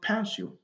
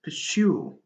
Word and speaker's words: pursue: C'est pas pursue. Non, non, non. C'est pursue. Donc la partie la plus prononcée, c'est la fin, la deuxième syllabe.